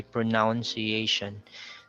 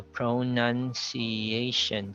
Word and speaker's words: pronunciation: the second uh syllable we also have this word commonly mispronounced it's pronunciation we have that confusion because the verb form is pronouns so sometimes we combine them we say pronunciation which is wrong or sometimes we say pronun iation so we con we we combine the ca so we have to really separate the two sound pronunciation so pronunciation so that's five syllables then we have cyot